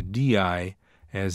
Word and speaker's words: dia: This occurs in Brazilian Portuguese whenever a word contains a DI, as in dia, or a TI, as in chia, which means ant.